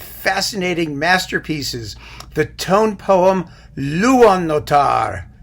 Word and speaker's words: Luonnotar: masterpieces the tone poem luan notar which is probably close to how you pronounce it in finnish but since i'm not i'm just going to call it luannotar because it's easier and i am going